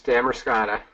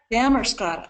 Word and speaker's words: Damariscotta: I'm saying it right it's Damaris how do you say that pretty close dammer Scotta dammer Scotta sorry damkot Monas School uh